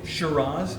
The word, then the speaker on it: Shiraz: And probably Shiraz is what the name probably should be.